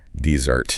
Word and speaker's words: dessert: Here the stress is on the second syllable. Dessert. Think sugary treats. Two s's. Sweet things. Stress on dizzard.